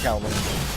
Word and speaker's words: Kowloong: I'm saying Kowloong.